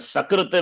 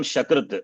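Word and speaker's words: सकृत्: If Swaha is pronounced as, and Sakrita will become Shakrita. It's the worst thing. Sakrita is once. Shakrita is fecal matter.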